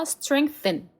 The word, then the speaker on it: strengthen: 강화시키다, 강하게 하다라는 단어 strengthen 이라고 읽으시면 됩니다. 그리고 우리의 믿음, faith. 여기 th 발음이 상당히 많이 나오잖아요. 그렇죠? th 발음은 혀를 깨물고 발음을 반드시 해주는 연습을 해주시면 됩니다.